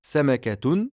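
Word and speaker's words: سمكة: phrase et qu'on s'arrête, est-ce qu'on va lire samakat? Non. On va lire samaka. Le ta al-marboutah va devenir un ha à la lecture uniquement avec un soukoun. Donc tu peux dire samakatun, donc prononcer ta al-marboutah,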